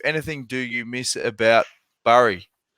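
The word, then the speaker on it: Bury: do you miss about Burry? Is it pronounced Burry or Berry? Berry. Yeah. Berry.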